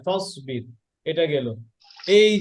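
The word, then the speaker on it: فَاصْبِرْ: ওয়াসুলহু, ওয়াত্তাবা, ফাসবির, ফাউসবির না, ফাসবির, এটা গেল।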